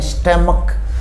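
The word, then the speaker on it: stomach: जहाँ CH का pronunciation क आता है, यानी स्टमक, यहाँ CH से च का प्रोनाउंसिएशन नहीं आता, क का आता है।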